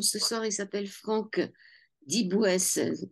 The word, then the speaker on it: Dibouës: Un homme ce soir, il s'appelle Franck Dibouès. On dit comme ça, Franck Ouais, Dibouès. Andy Dibouès, ouais, tout à fait. Ça s'écrit Diboues-S.